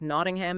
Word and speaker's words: Nottingham: It's found in hundreds of names like Nottingham and Birmingham. In these cases, it is correctly pronounced ham, Nottingham.